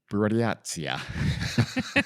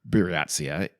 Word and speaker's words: Buryatia: Our story takes place in a place called Buryatia. Literally just listen to it pronounced, and I'm still struggling.